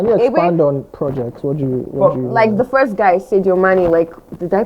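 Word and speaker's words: Sadio Mané: What do you the first guy, Sadio Mane, did I pronounce his name right?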